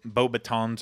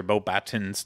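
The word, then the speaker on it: Beauxbatons: the Derm strings and the bo batons or Bob batons depending on which pronunciation you use uh they kind of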